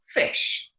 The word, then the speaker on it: ghoti: this word here, G-H-O-T-I, that word is pronounced fish. Why? Because if you think about the word tough, a GH could be potentially an F noise. An O at certain times could be pronounced like an I. A T and an I together can make a sh noise sometimes.